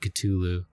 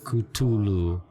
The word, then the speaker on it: Cthulhu: Cthulu. Hard T. Which is actually how I always pronounce it. I always thought it was a hard T, Cthulhu. Cthulhu.